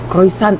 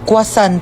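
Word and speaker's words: croissant: Croisant daw. Croisant. Ah quasant po. Croisant. Kwasan.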